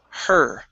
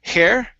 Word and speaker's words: her: is going to be her okay make sure you're saying instead of hair okay her she met